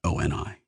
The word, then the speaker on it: OI: He pronounced it OI.